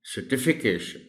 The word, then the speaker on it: certification: Similarly, even in this word, the stress is on the T that is after CER. So the correct pronunciation of the word will be certification.